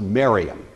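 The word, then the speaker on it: Mariamne: spelled something like Mary Omni but it's usually pronounced Miriam Miriam was a Hasmonean princess by all accounts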